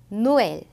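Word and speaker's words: Noël: 마찬가지로 이 단어도 노엘 이렇게 우하고 으 발음을 다 살려서 해주시고 그 다음 아이티라는 단어도 아, 이 발음을 각자 살려서 해주시면 됩니다.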